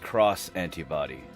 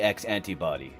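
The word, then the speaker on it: X antibody: How do we know the X antibbody isn't pronounced cross antibbody? Because of Digimon Evolution X, where they literally called it the X antibbody.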